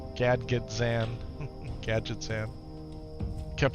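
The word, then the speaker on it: Gadgetzan: Gadget Zan.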